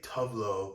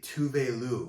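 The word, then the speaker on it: Tove Lo: hey, Alexa, please play Tovlo on Amazon Music, she would come on, the artist herself, and she would say, hey, this is actually Tuvelu. That's how to pronounce her name.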